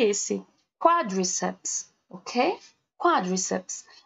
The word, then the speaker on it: quadriceps: Quadriceps, ok? Quadriceps. Porque a gente fala geralmente quadríceps, né? Então, a gente tem a mania de colocar a sílaba mais forte na sílaba do meio.